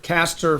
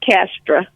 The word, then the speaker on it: Castra: for call how about Caster from Florida I might be mispronouncing your name there oh it's okay it's castra castra hey how you doing